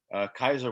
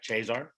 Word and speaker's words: Caesar: all after alejo's question caesar or kaiser kaiser was the germanic pronunciation if you went to a christian brothers school where they had the latin pronunciation in the italian phrase you had chazar just like he had caesarean section the germanic caesar kaiser led to the kaiser of germany and the czar of russia so anyway it's a northern southern pronunciation contest uh you didn't mention